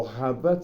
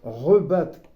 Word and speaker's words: rebattre: C'est pas rabattre, c'est rebattre. Alors nous, on dit rebattre, parce qu'on prononce, hein, avec un marteau.